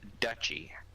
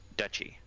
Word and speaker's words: Duchy: Okay, so according to Google, it is pronounced Duchy. Duchy. It's a schwa for the first syllable.